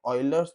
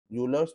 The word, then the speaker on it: Euler: ठीक है, then bye ऑयलर्स theorem, यूलर्स theorem, तो काफी लोग इसको ऑयलर्स बोलते हैं, काफी लोग इसको यूलर्स बोलते हैं। So don't go with the pronunciation, just stick to the statement, right.